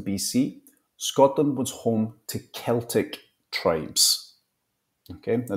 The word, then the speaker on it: Celtic: Scotland was home to Celtic tribes okay now the pronunciation there is Celtic tribes not Celtic Celtic tribes these early